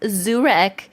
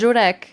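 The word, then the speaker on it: Żurek: It's called Zurek. I'm like, yeah, that's Jurek. That's how you pronounce it.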